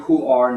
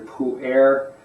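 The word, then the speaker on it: Pu'er: we said the Pu I'm saying pu R not p a uh pu is the standard Mandarin Mandarin Chinese pronunciation so if you hear pu a that's a variant a dialect um this is their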